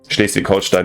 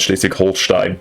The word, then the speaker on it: Schleswig-Holstein: Schleswig-Holstein, not Schleswig-Holstein. But sorry, I pronounced it a little bit more American or English than I wanted to.